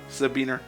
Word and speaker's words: Sabin: Alright, we have now successfully recruited Sabine into the party. I know it's Sabine, but I always pronounce it as Sabin or Sabin. Shut up. I pronounce it either way.